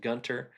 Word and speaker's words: Gunter: Uh Lee Nelson, local boy born and raised in Gunner, and that has a T in it. Um it's pronounced Gunter.